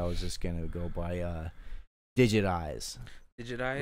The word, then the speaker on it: Digit Eyes: just gonna go by Digit Eyes. Digit Eyes, like it's spelled Digit Eyes, like your eyeballs, and so it's like it sounds like digitized, but it's like.